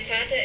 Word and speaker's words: Vater: Mein Vater ist Lehrer. Donc Vater, vous entendez d'ailleurs que le V est prononcé comme un F.